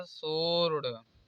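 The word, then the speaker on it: sword: इसे पढ़ जाएगा आंसर यहां पर देखिए एस के बाद डब्लू आया है इसलिए यहां पर भी डब्लू कॉमन हो जाएगा इसे पढ जाएगा सोर्ड अब डब्लू सालन एक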